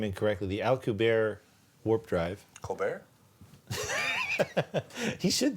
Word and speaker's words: Alcubierre: The next stop is the warp drive with the I always pronounce his name incorrectly, the Alcubierre warp drive.